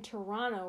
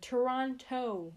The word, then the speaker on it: Toronto: I don't say the T at the end because it sounds weird. Toronto. It sounds like you're saying toe.